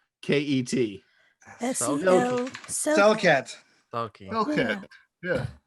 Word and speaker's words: Selket: Skelt will be probably fine. Skelt. Skelt. Yeah. Skelt? Spell it.